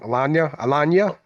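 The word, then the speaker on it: Alagna: I always say his last name wrong. Alanya, Hmm. like lasagna.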